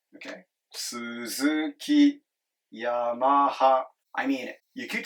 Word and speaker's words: Suzuki: with these you know Suzuki Yamaha sounds American I like it but in Japanese they're pronounces here but right it just goes up and stays flat low high high LHH okay Suzuki I mean it you